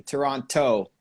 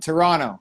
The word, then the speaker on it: Toronto: See, people who don't know, people who aren't from the city always pronounce the last T, Toronto. And we just we skip over. It's like Toronto. It's like an extra N or something there at the end.